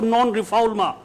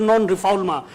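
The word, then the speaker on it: non-refoulement: friends the principle of non-rephalma and non-reformer it's a French you know terminology but it is written as known reformant in English but the pronunciation remains French so we pronounce it non-rephalma so there should and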